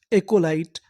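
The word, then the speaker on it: acolyte: क्योंकि आखिरी में लिखा है इ। ई का हमें उच्चारण नहीं करना। तो पूरी मीनिंग क्या बनी? एक लाइट। एककोलाइट।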